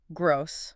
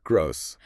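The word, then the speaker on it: groß: Gross. Gross. So whenever I see that weird B, I just need to think snake.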